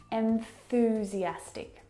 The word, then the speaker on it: enthusiastic: break down this word start with the first syllable n n where is your tongue what's it doing on that final consonant sound n it's at the top of your mouth and the